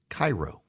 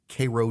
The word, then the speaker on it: Cairo: There is also a town even further south, Cairo, spelled exactly the same way as the capital of Egypt. So you would think Cairo. But no, dear reader, you would be wrong, dear listener. It's Cairo, Georgia.